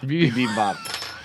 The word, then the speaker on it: Bibimbap: Bibimbap. Korean pork bebop? Bibimbap, I believe is how it's pronounced.